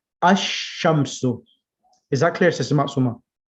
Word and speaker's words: الشمس: have a shadda, and the lam becomes silent. For example, al-shamsu becomes ash-shamsu.